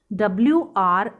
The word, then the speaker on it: wriggle: When we read W in column 3 it has no sound। जब हमने wrinkle, wriggle, write को पढ़ा तो हमने